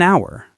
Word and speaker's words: hour: For example, an apple, an hour. The h is silent, an umbrella.